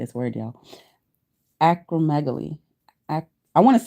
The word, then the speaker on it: acromegaly: I just want to know how it's pronounced. Well, you know what? Now that we're learning, let's just find the definition too. Acromegaly.